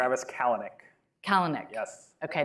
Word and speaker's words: Kalanick: it's Bezos yeah Bezos and it's kalyanic no kalanic kalanic yeah and it's chesky chesky